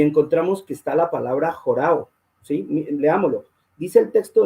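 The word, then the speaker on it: ὁράω: Los que les gusta buscar pueden mirar ese número y dice jorao. Se escribe O-R-A-W, que es una O, jorao.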